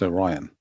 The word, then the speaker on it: Orion: But when I say it, it be Orion because it's the it's the constellation spelling and they're going like, "No, it's Oran." I'm like, "It's Orion." They're from there. Go by the way they say it.